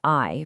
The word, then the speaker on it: ay: Stretching beyond that, we have ay, pronounced literally exactly like the English word ay, which stands for a month.